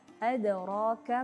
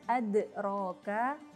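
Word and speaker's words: أدراك: Begitu juga pada huruf yang lainnya, yaitu huruf dal ada adraka, adraka bukan adraka, karena kembali kepada sifat huruf dalnya dadidu bad, maka walaupun dia nanti ada qalqalah, tetap membacanya itu kembali kepada sifat huruf dal tersebut, adraka bukan adraka. Kalau adraka berarti dia cenderung kepada huruf e atau e.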